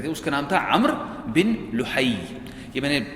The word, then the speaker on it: عمرو: یہ میں نے اس کے ہجے لکھے ہوئے ہیں، عین میم رے واو، اس کا تلفظ ہے عمر، لکھنے میں عمرو ہوتا ہے لیکن تلفظ ہے عمر بن لحی۔ عمر بن لحی بڑا